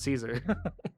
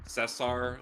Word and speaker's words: Cesar: I usually tell people to say Caesar because a lot of people can't really pronounce it right. Mm-hmm. Cesar or Cesar is Mm-hmm. usually how it's pronounced, or just Ces for short.